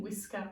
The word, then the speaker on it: whisker: we need to remember the wh diagram making the what sound and possibly the ER diagram making that bitter sound at the end can you teach it